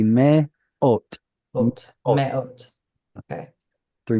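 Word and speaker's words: מאות: aleph here is starting the syllable. Its vowel is the holam vav. So it's going to be me ot.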